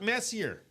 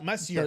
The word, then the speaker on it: Messier: Messier. It's Mark Messier. It's Marcier. You're right. Messier. Um I always get his name his last name. I always say his last name wrong because again I see how I read it how I see it.